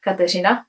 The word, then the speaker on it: Kateřina: I am actually from the Czech Republic, so my first name is actually pronounced Kateřina in my native language, Czech.